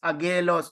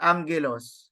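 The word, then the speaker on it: ἄγγελος: g no for Angelos so you do not read this word as agelos no but Angelos n okay thank you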